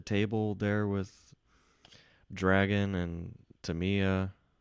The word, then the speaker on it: Tamiya: Are you looking for a seat at the table there with Dragon and Tamiya? Tamiya. I think Tamiya is the more Tamiya. I think that's the more um, appropriate Japanese pronunciation.